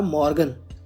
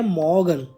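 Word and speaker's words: Morgen: के बाद है हमारा मॉर्गन हम इसको मॉर्गन प्रोनाउंस नहीं करते हैं इसकी जर्मन प्रोनंसिएशन होती है मोगन तो मैं यहां पर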